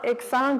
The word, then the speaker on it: exsangue: Mais c'est parce qu'il n'y a pas de tréma qu'on ne prononce pas le U. Mais exsangue ou exangue, on ne le prononce pas parce que c'est ça. Mais effectivement, quand on le voit, on a l'impression que... Puis moi, je l'ai déjà entendu souvent aussi avec le U prononcé.